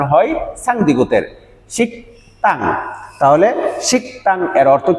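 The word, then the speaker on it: 식당: আমাদের যে শব্দটি আছে এখানে আপনার এই শব্দটির উচ্চারণ শিকং অনেকেই এর উচ্চারণ করেন এটি ভুল উচ্চারণ আমাদের বিয়োগ বাচ্চিমের পরে যদি দ্বিগু থাকে তাহলে এর উচ্চারণ হয় তাহলে শিকতাং এর অর্থ কি শিকতাং এর অর্থ হলো রেস্টুরেন্ট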